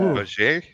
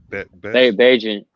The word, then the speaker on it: Bagent: Baget? Bagnet? Bagent.